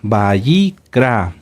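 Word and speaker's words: ויקרא: escriban en su cuaderno Cómo se escribe abra V a y o Y sí y k de kilo perdón k de kilo r a bicra bicra lleva acento en la a en la última A bicra qué libro es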